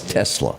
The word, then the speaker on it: Tesla: Is it Telsa or is it Taesla? Tes Tesla. I was close.